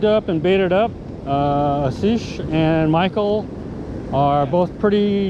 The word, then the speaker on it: Asish: aish how do you is that how you say your name asish asish a s i s h yes aish yeah okay and